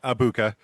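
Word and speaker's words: Egbuka: at it, yes, the G is silent. Uh, so it is Ibuka.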